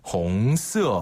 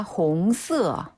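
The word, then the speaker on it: 红色: 뭐라고 배울 수 있을까요네 붉은색 빨간색은 바로 중국어로 홍어라고 해요 홍스 한 번 더 홍스 홍스 그렇죠 불그 홍자를 써요 그래서 홍스예요 발음이 또 홍이네 네네네네 홍스 기억하기 좋죠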